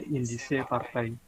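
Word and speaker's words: Indische Partij: Cara bacanya dalam bahasa Belanda indise partai.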